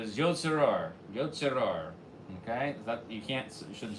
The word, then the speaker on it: Yotzer Or: So you're supposed to take a little break, he says, between Yotzer and Or. Yotzer Or. Okay? So you shouldn't hear it pronounced as Yotzer.